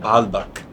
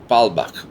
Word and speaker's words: Baalbek: I always forget the pronunciation. It's called Baalbek. Baalbek.